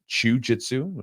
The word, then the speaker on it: Chewjitsu: with the promo code Chewjitsu, and CHEWJITSU. I say that, by the way, I spell that out because some people think I'm saying jiu-jitsu. It's very close, right? It's the whole point of it.